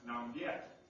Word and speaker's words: Nanyue: It was located on the border with an independent kingdom down here called Nanyue, or pronounced Nam Viet, or Vietnam.